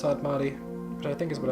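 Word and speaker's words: Sadmadhi: And I know it's pronounced Sadmati, which I think is what I was saying.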